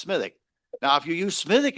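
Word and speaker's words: Smithwick's: Now, if you want to get fancy, there's another great Irish beer called Smittik. Now, smittic, I know how it's spelled and it's pronounced smithic.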